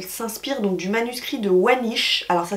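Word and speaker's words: Voynich: aller voir elle s'inspire donc du manuscrit de wanish alors ça s'écrit V o y n i C H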